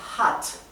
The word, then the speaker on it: hat: haber el verbo Haven en tercera persona al singular se pronuncia hat sí hat Quién ha hecho esto